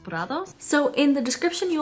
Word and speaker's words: Prados: It was founded by Cici Meadows, and Prados is actually meadows in Spanish, so that's why I assume the brand is pronounced Prados.